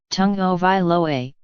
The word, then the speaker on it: Tagovailoa: Tagovailoa, pronounced Tagovailoa, had not played in Alabama's previous 4 games